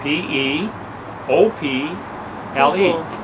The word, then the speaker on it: people: So in my best Dutch pronunciation, I go, P-op-le. P-op-le. Everybody bust out laughing. Oh, I knew I had said it wrong. Do you know what that word really is? P-op-le. No. P-E-O-P. L-E.